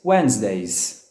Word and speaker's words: Wednesday: are tough so repeat with me Mondays Tuesdays Wednesdays Wednesday Wednesday Wednesday Wednesday Wednesday Wednesday love didn't